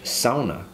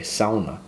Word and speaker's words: sauna: i'm building a finnish sauna you gotta pronounce it the right way sauna not sauna sauna so i'm building